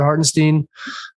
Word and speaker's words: Hartenstein: the more I like about Hartenstein, Stein, which I think is how it's correctly pronounced.